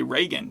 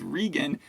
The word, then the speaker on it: Regan: said it right because a lot of people would say Reagan but her name is Regan she's upper class so it's like Regal and like you said